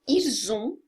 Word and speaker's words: ils ont: Aqui, ils ont, eu vou juntar isso na pronúncia e vai ter o som de Z na pronúncia.